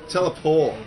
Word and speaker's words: teleport: that's not teleport that's teleport teleport yes the tea is silent or French up to you uh $60 I just